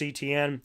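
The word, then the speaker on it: Travis Etienne: round a minus Travis etn and his last name is Etienne it's spelled the same so I always loved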